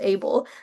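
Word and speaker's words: AAEBL: So, the experiential - what it actually asks of us is A A E B L, which I later discovered, embarrassingly, is just pronounced 'able', stands for authentic, experiential, evidence-based learning.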